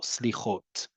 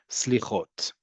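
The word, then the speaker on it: סליחות: So the term for it is slichot, right? Again, you hear the emphasis on the last syllable, slichot, slichot.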